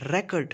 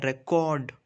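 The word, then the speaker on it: record: तो जब हम इसको एज अ नाउन प्रोनाउंस करते हैं तो हम इसे रैकेट प्रोनाउंस करते हैं, रैकेट। जो RE है उस पर स्ट्रेस ज़्यादा होता है, लेकिन जब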